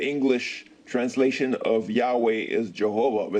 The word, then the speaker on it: Jehovah: pronunciation Jehovah and Yahweh by combining the vowel sign of Adonai and Elohim with the four consonants of the tetragramaton the pronunciation yoah you